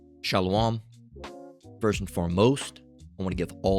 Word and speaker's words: Shalom: All right, it's properly pronounced as Shalom.